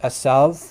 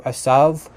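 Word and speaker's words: עֵשָׂו: So yeah, just to note again that he is saying that Isa does come from the Hebrew, which in Hebrew it's pronounced asav, which in modern Hebrew asav, but in biblical times it probably would have had very similar pronunciation to Arabic.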